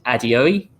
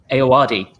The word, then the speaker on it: Ayoade: So it starred Matt Berry, Matthew Holness, and I can never pronounce his name, Richard Adeoye. Is that Iowadi. Ayoade. Yeah. Thank you, Gareth.